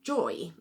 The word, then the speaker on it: Joii: Anyone who's got any of those policies can get free use of an app called Joy, which is spelled Joii.